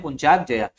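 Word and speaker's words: Puncak Jaya: mountain तो इसका है पंचाग जया क्या है नाम है पंचाग जया पुक जया ठीक है ऐसे प्रोनाउंस करते हैं पंचाग जया ये आपका ओनिया का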